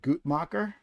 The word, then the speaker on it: Guttmacher: I think it's pronounced. I'm going to be that guy. Guttmacher, not Gut. I haven't heard anybody say it.